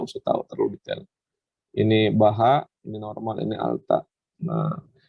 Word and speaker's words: baja: Ini meskipun tulisannya baja, tapi dibacanya itu patella baha.